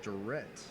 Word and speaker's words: Durrett: Excuse me, their last name there was not Durant, it was Durrett.